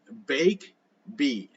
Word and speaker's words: Bakibi: Inside SM Aura, one of Metro Manila's many sprawling shopping malls, you'll find a wonderfully whimsical co-baking space called Bakibi, pronounced Bake Bee. Bake Bee.